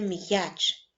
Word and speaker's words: м'яч: останній звук Ми чуємо Отже в слові м'яч перший звук вимовляється твердо а буква я позначає два звуки ви помітили що між